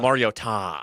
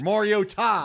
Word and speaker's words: Mariota: Looks like Mariota. Mariota. Oh, that's right. It's Oh, Mariota. that's right. That was during the It game changed. last year. Mariota. Yeah, there's a new emphasis on the syllable.